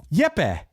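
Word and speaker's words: Jepe: Is this Jeep Larson? Jeep. It's spelled J E P E. No, it is not Jeep, man. It is Yep.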